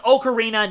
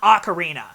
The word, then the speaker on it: ocarina: okarina and yes it's okarina not Ocarina I refuse to pronounce it that way it the name was coined in Italy the original pronunciation okarina deal with it I'm